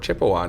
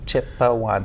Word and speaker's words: Chipewyan: Chipewyan, so 3 syllables down to 2.